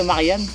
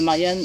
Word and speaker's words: Marjan: la nature onouve actuellement donc au parc de Marian qui s'écrit Marjan M a r J a n